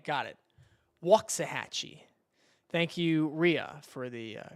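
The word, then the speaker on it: Waxahachie: Uh, waxi gets hit around one. I didn't say right again, but I don't know. Wal Hatchee. Okay. So, it's Waxahhatche. Okay. Okay, so it's a long A. Got it. Walksahhatchee.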